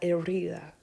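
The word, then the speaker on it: herida: en necesito revisar la erida i remember h's are not pronounced so it's i it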